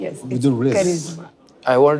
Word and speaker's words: करिश्मा: करिश्मा, आपने ये दुनिया, पहले तो आपके नाम का करेक्ट प्रोनाउंसिएशन आप मुझे बताइए ताकि मैं गलती ना करूं। इट्स करिश्मा। मैं माफी चाहता हूं। यस, करिश्मा।